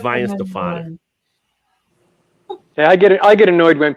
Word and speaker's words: Weihenstephaner: Weihenstephaner, not Weston-Faner or Weston-Faner. It's Weihenstephaner.